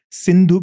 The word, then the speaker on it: Sindhu: As I said, Sindhu becomes Hindu. Mm. The name comes from Persia, because the river Sindhu, they could not pronounce the S, so they changed it to H.